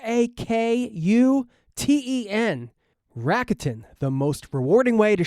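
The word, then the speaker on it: Rakuten: Plus, with Racketin, you can also earn cash back on groceries and other purchases like electronics, pet supplies, and more.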